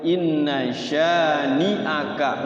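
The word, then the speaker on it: إن شانئك: Wanhar inna sya-nya ini suka dipanjangin, dikirain mad wajib padahal dia mad tabi'i. Inna syani'aka enggak boleh panjang-panjang. Kesannya kayak yasha ya, karena ada yang yasha mayyasha ya. Padahal ini 2 harokat aja.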